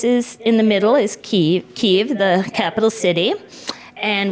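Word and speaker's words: Kyiv: not the Ukraine and say ke and not Kev Kev is the Russian pronunciation so um but this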